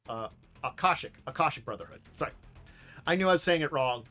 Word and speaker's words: Akashic: was a series of conflicts between the uh Ashketic brotherhood and the Ethanos so uh I never say their name. Uh, Akashic, Akashic Brotherhood.